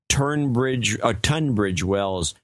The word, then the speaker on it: Tunbridge Wells: I think there's an R in there, but you still say Tunbridge Wells. You don't pronounce the R, but it should be Tunbridge Wells.